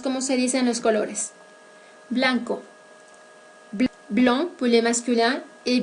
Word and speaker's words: blanc: Blanco, blanc pour les masculins et blanche pour les féminins. Ambas formas se pronuncian con la vocal nasal un, vocal producida por la siguiente combinación de letras AN.